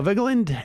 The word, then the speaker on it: Vigeland: was very proud i i pronounced it correctly i'm a vigilant yeah there's three three syllables yes no i did